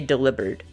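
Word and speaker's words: Delibird: I think I like it because I don't have to say delivered, which again is the proper way to say that Pokemon's name. I don't like it, but that's how you say it.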